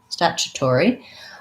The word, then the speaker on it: statutory: Again, this is a word with some T's that function more like CHs. So we have first syllable stress, and this is vowel a, like in black cat. So stat, chew. This TU is like a CH, and it's the U vowel, statue.